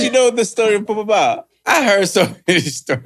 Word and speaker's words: Popo Bawa: Yeah, Popo Bawa. Where is it? Popo Bawa. Where is it? Popo Bawa. He didn't show up. Where's he coming? Popo Bawa. Exactly. But you know the story of Popo Bawa?